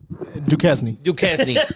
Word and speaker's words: Duquesne: Duquesne.